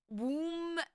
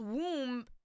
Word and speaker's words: womb: I'm trying to think of like other words that I didn't know, like tomb and Tom, like womb, and but it's pronounced tomb, not Tom, but it's pronounced womb and not womb.